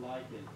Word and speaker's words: lichen: Do you pronounce lichen, lichen or lichen? It's lichen.